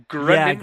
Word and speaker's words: Greninja: Did I pronounce that correctly? Greninja?